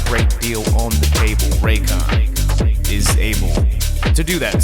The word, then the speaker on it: Raycon: okay so the country Reagan banned The Exorcist in 1990 oh sorry I don't I don't think I pronounced that right I think it's pronounced raycon I'm sorry sponsored by